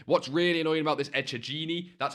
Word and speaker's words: Echegini: Again, what's really annoying about this Echegini, that's how you say her name, don't ask questions, is that, you know, she's got a 15,000 coin price range as well.